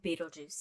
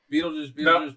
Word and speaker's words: Betelgeuse: a really big star like Betelgeuse right now, Beetlejuice, yes. Beetlejuice. It's on his death throes. it is God, fucking Brittany, this Beetlejuice. is You beautiful do stuff not that say happened. Beetlejuice. Beetlejuice. I call it Betelgeuse.